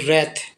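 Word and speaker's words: wrath: क्रोध ठीक ना तो रथ डब्लू साइलेंट होता है एक्सप्लेन सोव ब्लोज इसको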